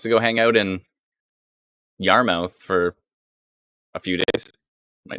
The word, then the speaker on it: Yarmouth: oh yarmouth ah yes sue says yarmouth not mouth that's true yarmouth is it spelt mouth i have a feeling it actually is spelt mouth but i guess it's pronounced muff how come nothing is